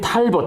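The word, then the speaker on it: Talbot: 기 나오죠 그래 그죠 영국인 탈봇 텔벗이라고 보통 발음 그죠 그 윌리엄 헨리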